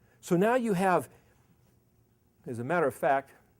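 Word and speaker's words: הַ: it must be ahead no it's not a hat it's an H it's a hey so again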